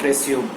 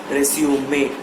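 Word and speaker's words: résumé: But, that word is not resume. It has to be pronounced as resumay The reason is, resume means any activity that starts after a small break.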